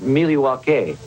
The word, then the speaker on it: Milwaukee: Indian name yes Pete it is actually it's pronounced Milwaukee which is del Gong Qin for the good